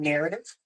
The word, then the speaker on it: Knarrative: It's called Narrative, spelled with a K. KNARRATIVE, Narrative. Sound like CNC.